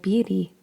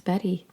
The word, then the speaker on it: Beattie: to pronounce that because it looks like Bey but I looked it up it's Betty the book is 88